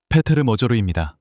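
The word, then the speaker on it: Péter Magyar: 그의 정당은 대략 38, 39%를 받고 있고 그의 반대편 후보는 페터르 머저를 또는 머저를 헝가리어로 어떻게 발음하는지 여러분이 말해 주세요. 페테르 머저루입니다.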